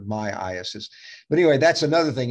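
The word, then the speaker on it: myiasis: In fact, Dr. Rapini says it should be pronounced myasis. He's probably right, but I've always heard of myasis.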